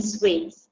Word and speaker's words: suites: future us will yeah we'll be staying in swings that's the pronunciation Nelly good job yeah what's the part